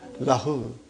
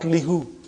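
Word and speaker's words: لَهُ: It becomes lahu, not lihu. Lahu. Okay? It changes because it's easier to pronounce.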